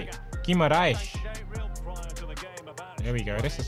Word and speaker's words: Guimarães: Guimarães.